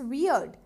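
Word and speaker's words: weird: इट्स वियर्ड। अजीब होता है वियर्ड, तो क्या बनेगा, इट्स वियर्ड। इसको व से प्रोनाउंस करना, अगर ब से करोगे तो वो दाढ़ी बन जाएगा, बियर्ड।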